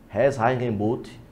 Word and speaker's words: Reinheitsgebot: Existe uma lei chamada Lei da Pureza Alemã de 1516, que, embora eu não fale alemão, eu vou arriscar a pronúncia dela, chama Reinheitsgebot.